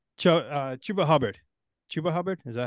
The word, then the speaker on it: Chuba Hubbard: All right, Chuba Hubbard. Chuba Hubbard, is that how you pronounce that one?